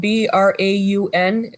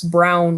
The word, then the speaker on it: Braun: town um that's spelled b-r-a-u-n so you would think it's braun road but it's brown road like the color brown that's weird because i